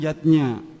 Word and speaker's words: Yajna: Yajna dieja yajna, orang tua. Namun, pengucapannya adalah yatnya.